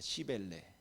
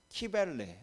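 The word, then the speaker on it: Cybele: 시벨레. 그래서 악센트를 앞에 두시고 발음하면 안 됩니다. 웬만하면은 시벨에다 악센트를 준 게 좋겠죠. 그래서 어떤 발음은 뭐 이것을 또 키벨레 뭐 이렇게 말하기도 합니다.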